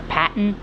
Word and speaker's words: Patton: the name pan that the name is actually pronounced P Patton but I don't really pronounce it that way